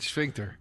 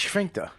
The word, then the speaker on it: sphincter: Just laughed at the way you said sphincter. It's sphincter. Why do you say it like you're a fucking German, like you're Sphincter. like Goebbels?